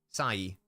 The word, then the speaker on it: Sai: Don't pronounce the I for long. Sai.